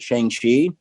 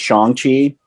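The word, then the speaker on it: Shang-Chi: But anyways, he's in it and he talks about how everyone pronounces it Shang Xi and that's not the correct way. Um, it's Shongi and it's just as I mean, I had never knew.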